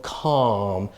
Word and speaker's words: calm: And then these words here, okay, you have a L, okay, palm or calm. So be careful because the L is not pronounced, all right?